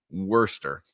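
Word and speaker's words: Worcester: it they say they they say all those letters in the middle be damned them we're not gonna pronounce them she's gonna be Worster wor wer wor yes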